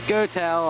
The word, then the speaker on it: Goettl: Goodman by the way g o e t TL which I pronounce is goel I assume air conditioning